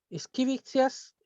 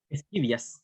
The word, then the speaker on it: Scivias: El tema que nos trae Dic et Scribe, la profecía apocalíptica en Esquivicias, ¿cómo se pronuncia? Esquivias. Esquivias, eso, Esquivias. de Hildegard von Bingen.